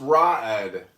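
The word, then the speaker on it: Raed: It's pronounced Ra'ed.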